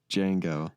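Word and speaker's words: Django: he's in yeah yeah starts with a silent D how many movies do you know that start with a silent D Jango yeah I forget that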